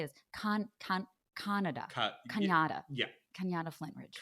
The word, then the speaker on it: Canada: Canada. Yeah. Canada Flintridge. Canada rhymes with Hanukkah.